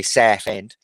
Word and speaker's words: Southend: which is down Southend, or as the locals say, Southend. Southend. Southend. Know what I mean? Got to say it right.